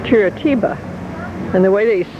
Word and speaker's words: Curitiba: Okay, I had a hard time pronouncing it, and it's Curitiba.